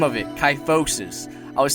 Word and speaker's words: kyphosis: by the way that's the name of it ty focuses I was saying it wrong in all the previous videos but I'm finally saying it right now tight focus alright that's all I got to say thank